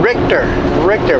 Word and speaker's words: Richter: Richter.